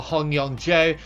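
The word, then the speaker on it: Hong Yong-jo: like uh this one Yong Joe Hong or Hong Yong Joe as it's pronounced I do recognize him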